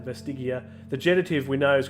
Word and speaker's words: vestigia: Vestigia. Vestigia. I'm going to make sure I get all the I's in my pronunciation there. Have some more tea. Clear the vocal cords. Vestigia.